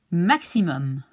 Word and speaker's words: maximum: Maximum. Okay, so the X is like X. Okay, like in Latin.